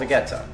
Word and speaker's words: Vegeta: flavored seasoning it's called vegeta that's how we pronounce it in slovak um my family's used